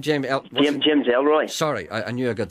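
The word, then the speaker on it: James Ellroy: Did you have James McElroy down there the other night? What's his name? James Elroy.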